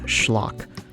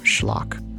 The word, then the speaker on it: schlock: that are opposite of schlock. The word comes from the Yiddish word schlock. Same pronunciation, different spelling.